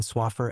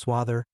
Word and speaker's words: Swaffer: Examples are his mispronunciation of the name of his friend, Hanan Swaffer, as Swather, and his conviction that